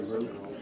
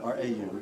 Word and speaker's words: Rau: My name is Rau. Correct, Rau, R-A-U. R-A-U, okay. And we pronounce the last name Rau.